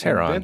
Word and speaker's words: Heron: A guy by the name of Heron, I'm terrible at pronouncing names, of Alexandria It's Heron.